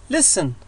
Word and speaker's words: listen: listen ولا أقول listen listen التي تكتب لا تلفظ.